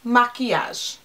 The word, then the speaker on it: Makiage: said their name incorrectly it's even maquillage not ill I said it wrong